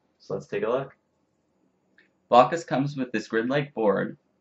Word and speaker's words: Blokus: Today I'll be reviewing Blokus, or some pronounce it Blokus.